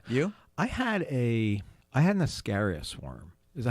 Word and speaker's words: Ascaris: I had an Ascaris worm. Is that how you say it? Yes, Ascaris? Ascaris?